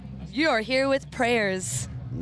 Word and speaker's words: PREYRS: Our prayers is spelled P R E Y R S.